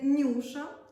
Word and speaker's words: Newsha: знаю що тут знаю що це бренд ніби читається Нюша ми передивились спеціально багато